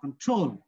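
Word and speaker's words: control: করতে হবে ঠিক আছে যেমন দেখো আমরা বলি কি নরমালি বলি কন্ট্রোল বলি কি কন্ট্রোল কিন্তু এটা উচ্চারণ কন্ট্রোল কি উচ্চারণটা কি হবে কন্ট্রোল এই যে কনটা খুব মানে খুব সংক্ষেপে উচ্চারণ হচ্ছে কন্ট্রোল আর সংক্ষেপে এবং লো সাউন্ড হচ্ছে কন আর ট্রোল বলার সময় কি আমি জোরে বলছে কন্ট্রোল জোরেও বলছে আবার লং করছে ঠিক আছে জোরেও বলছে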